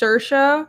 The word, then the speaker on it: Saoirse: It's Ashlyn, and I've seen a name, Saoirse is pronounced Saoirse. Yeah, Saoirse.